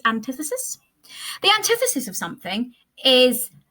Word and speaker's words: antithesis: okay next one antithesis I love antithesis or anti antithesis as i used to pronounce it when I was younger and did not know better but it is antithesis the antithesis of something